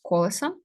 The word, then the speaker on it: колесо: вапном тут є закінчення графіті інтервю колесо тут наголос колесо і колеса колеса колесом тобто тут є закінчення